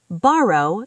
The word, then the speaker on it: borrow: Borrow. The first O is open.